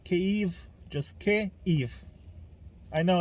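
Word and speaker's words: Kyiv: this uh pronounce it cave not kiev kiev is saying it in russian so please say kev just i know it's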